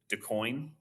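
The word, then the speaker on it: DuQuoin: um and I'm G to mispronounce this always mispronounce this is it decoin you got it you got it all right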